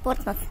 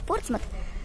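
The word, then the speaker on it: Portsmouth: Если кто-то еще будет говорить, что надо говорить Портсмут на букву Т в конце, то, пожалуйста, еще раз послушайте. Это Портсмус, английское произношение, а Портсмут пишут, наверное, у нас на российских картах. Но здесь Портсмут не говорят. Говорят Портсмус. Вот поэтому объясняю еще раз.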